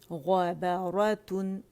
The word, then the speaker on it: غبارۃ: ٹھیک ہے عنبا عنبا غبارۃ غبارۃ غبارۃ. ٹھیک ہے غ موٹا با باریک را موٹا تا باریک تو اسے ایک دفعہ ہجے کرتے ہیں.